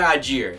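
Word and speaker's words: Allgeier: Tyler Algier, and yes, that's how you say it.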